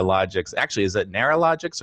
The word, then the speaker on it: Logics: do pronounced at Nara and we also get logistics instead of logics on a regular basis so